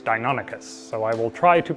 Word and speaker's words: Deinonychus: found out yesterday is actually pronounced Deinonychus as if it were a Greek word which makes sense because